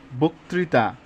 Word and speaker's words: বক্তৃতা: টা দন্তন্য হয়ে গেছে আদ্য দুই নাম্বার নিয়মটা আদ্য অ এর পরে যদি ঋকার থাকে তবে অ এর উচ্চারণ ও এর মত হবে যেমন মসরিন বক্তৃতা তাহলে এই মসরিন ম